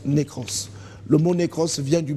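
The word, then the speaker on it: νεκρός: La mort se prononce nékros.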